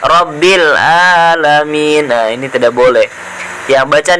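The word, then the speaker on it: العالمين: lanjut Hai Dil alamin sini ada huruf Ain Robby lah main keluar dari tenggorokan bagian tengah ya makhrojnya huruf Ain itu tenggorokan bagian tengah jadi cara pengucapannya telaah bukan huruf hamzah rabbil alamin nah ini tidak boleh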